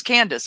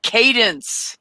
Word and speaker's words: Cadence: I think it was Candace. I think he kept calling her Candace. And Amanda kept going, Cadence. And he'd say, yeah, Cadence. And then he'd say it wrong again.